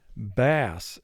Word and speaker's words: bass: to indicate that fact now there's another way that we can pronounce this word and that would be bass as in the bass fish that people like to catch in the lakes we spell the word